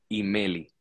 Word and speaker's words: Himely: por aquí le quieren en España Cómo se pronuncia tu apellido y Meli y Meli Ok Ok te voy a decir